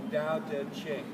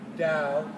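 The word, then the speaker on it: Tao Te Ching: book is called the Dow dead chick and it's spelled t-a-o-t-e-c-h-i-n-g but that's not how it's pronounced Dao d-a-o the word t is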